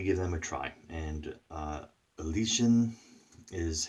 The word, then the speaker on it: Elysian: But so I wanted to give them a try, and Elysian is how it's pronounced.